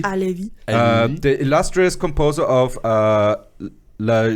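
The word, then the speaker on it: Halévy: I'm going to say Halevi. Alevi.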